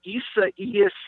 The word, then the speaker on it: Isaias: Isaias is this one's name. And I had to really work on the pronunciation, but I've got it down phonetically now. So Isaias it is.